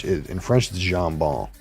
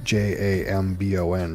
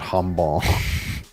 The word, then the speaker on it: jambon: But in French, it's actually, you pronounce the J, so like you would say, so Jambon, jambon. Not humball.